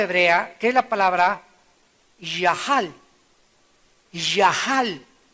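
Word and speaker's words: יָחַל: que es la palabra yahal. Yahal, se escribe yachal con C. Pero se pronuncia Yahal, que significa, aunque me quite la vida, seguiré confiando en que Dios es bueno.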